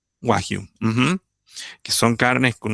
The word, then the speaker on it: Wagyu: Eh, Esta china, no, nunca me acuerdo bien el nombre, el japonés no es chino, el Wagyu, ¿cómo se pronuncia? Wagyu. Wagyu.